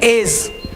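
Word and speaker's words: edge: Silent होता है। तो इसको हम लोग एडस नहीं एज, है ना, डी क्या हो गया?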